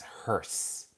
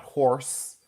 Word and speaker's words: hearse: So the correct word is hearse. Hearse, not horse. Hearse. There's an e in there. Hearse.